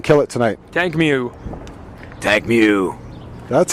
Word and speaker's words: Mutank: Tank Mew.